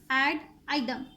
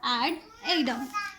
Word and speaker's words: ad idem: The next point what we have is consensus ad idem. Consensus ad idem. So if you need a clear pronunciation of it, just I'll show you the image. You can just hear it, ma. Ad item.